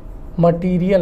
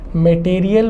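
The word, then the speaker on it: material: है दोस्तों वह है मटेरियल नाउन उच्चारण पर भी थोड़ा सा आपको ध्यान देना है बहुत सारे लोग जो है इसे मटेरियल बोलते हैं जबकि करेक्ट प्रोनंसिएशन है मटीरियल हिंदी में हम लोग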